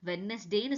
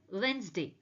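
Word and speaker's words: Wednesday: வெட்னஸ்டேன்னு சொல்லக்கூடாது, it should be correctly pronounced as வென்ஸ்டே.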